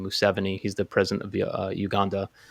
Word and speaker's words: Museveni: He's doing actually what the I think you pronounce his name Museveni.